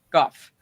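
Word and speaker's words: Michael Gough: It's pronounced Goff. It's, uh, it's, uh, it's Go. If it's Dutch origin, uh, if it's Scottish Scottish, it's Goff. Okay. So, Michael Guff.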